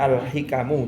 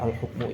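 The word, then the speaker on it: الحِكَم: baca sekilas tadi keliru saya bacanya alhukmu harusnya alhikamu alhikamu yang cocok Mak tadi tak knyata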